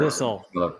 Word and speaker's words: abyssal: The abysmal plains, right? Or abyssal. Yeah. Abyss. I know. I always say it wrong. Thanks, The abysmal. Geo laughed at me. Abyssal, like the abyss, like a deep abyss.